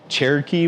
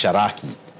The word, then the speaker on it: Cherokee: Shiloh the uh people call it Cherokee but it's actually pronounced shaki okay uh and the uh